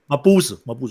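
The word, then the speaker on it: Mabuse: Mabusa, yeah.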